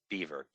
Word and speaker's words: Belvoir: on my website and this is the star example beaver because this is no way in the world you can get beaver out of that but it's an amazing